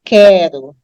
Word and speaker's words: quero: Por exemplo, a palavra quero. A palavra quero tem o Q-U-E na palavra, né? Mas não é quero, é quero. Então, aí eu não uso trema mesmo, não havia necessidade de trema antes para dizer se ele era pronunciado ou não, porque a própria pronúncia a gente sabe que o U não é pronunciado.